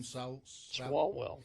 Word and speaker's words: Swalwell: Swalwell.